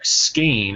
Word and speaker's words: Skein: the skying ash function or skein as I believe it is officially pronounced but I've heard it mispronounced I think more often than pronounce correctly it has a lot